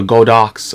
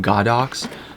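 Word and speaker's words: Godox: brand but um yeah this is a go Doc's or I think it's pronounced God ox also flash point your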